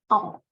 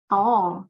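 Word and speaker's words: とお: Ini dibaca 10 itu secara baca kunnya dibacanya to. To, tapi bacanya agak panjang ya kan.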